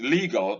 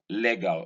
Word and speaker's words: legal: This is legal, not legal, as I have heard a lot of Nigerians say.